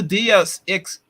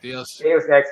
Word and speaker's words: Deus Ex: I think I pronounced it right. DS. X. EX. Deus Ex. Yeah. Deus Ex is what he means.